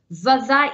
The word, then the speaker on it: fydda: So we've got fydda i ddim yn. So instead of bydda i'n, fydda i ddim yn. Same pronunciation, but with that V sound at the start, okay?